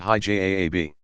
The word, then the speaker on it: hijab: The majority of women who wear some form of special clothing, technically known as hijab, pronounced hijab, veiling or covering, opt for a headscarf down to the mid-forehead so that it covers all the hair.